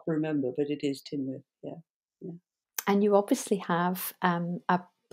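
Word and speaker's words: Tŷ Newydd: up in Wales, the Tynwyth North, the writing centre. How do you pronounce it? I thought it was Tynwyd. It's spelled T-Y and then new word N-E-W-Y-D-D, but it's actually Tynwyth.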